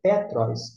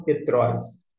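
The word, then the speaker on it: Πέτρος: Por que é Petros e não Petróis? Por conta deste acento aqui. Daqui é um acento. Se acento tivesse no O, Petróis. Como está aqui, indica que a sílaba tônica é esta aqui, Petróis.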